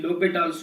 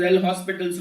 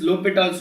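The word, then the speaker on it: L'Hôpital: that is called actually l'hopital's rule h and s is silent don't read this as l'hopital's rule right is read this as low don't read this is l hospital's rule read this is l'hopital's rule h and s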